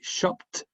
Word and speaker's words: shopped: So for example, we have the verb shop. No vibration, so the pronunciation will be shopped.